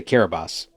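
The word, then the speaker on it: Kiribati: We can say Kiraabas. So which why isn't it just an S? Like who named it? Who heard Kiraabas and wrote Kerabati?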